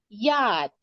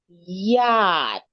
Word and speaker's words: yacht: Yacht. Yeah, it's spelled Yeah. like this, Dudu. It's spelled like this, but we pronounce it like this. Yacht.